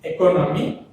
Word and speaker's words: economy: So, the stress is on the according to first word, that means economy, stress is on the co.